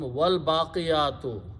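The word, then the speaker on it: والباقيات: Al will remove one dhamma, so it will become al baqiyatu. Okay. Waw means and. So Allah subhanahu, so we pronounce it become wal baqiyatu, and that which will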